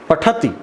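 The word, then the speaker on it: पठति: इसका उच्चारण थोड़ा हम लोग कई बार अशुद्ध कर देते हैं, पठती ह्रस्व उच्चारण होना चाहिए।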